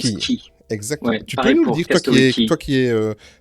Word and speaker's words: Cay: Alors très important, le quai, ça s'écrit quai, mais ça se prononce Key.